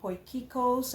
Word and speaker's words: Potjiekos: from South Africa and my dish is called Poikos. I know the spelling doesn't look like it but that's the way it's pronounced.